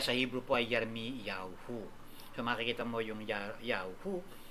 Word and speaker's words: YAOHU: mo ang ang tamang pag-pronounce non ay yao yahu sparing ng pronunciation y a w h o o yahoo pwede rin naman k ginagamit natin sa ating church why A o hu.